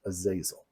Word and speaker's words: Azazel: recognize from popular culture Azazel or as he's sometimes pronounced a zazil of course God finds